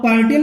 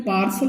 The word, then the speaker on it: partial: ठीक है, जैसे मैंने ले लिया PARTIAL, अब पार्टियल नहीं बोलते, इसको बोलते हैं पार्सल बोलते हैं।